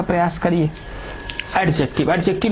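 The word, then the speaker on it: adjective: एडजेक्टिव, एडजेक्टिव में एडजेक्टिव, जब ए और जे के बीच, जब ए और जे के बीच डी आता है, डी साइलेंट हो जाता है, समझ में, एडजेक्टिव नहीं, एडजेक्टिव, ठीक है।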